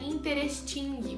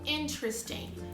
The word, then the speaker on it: interesting: Então, primeiro, a pronúncia não é porque se escreve, né, interesting, mas você fala interesting.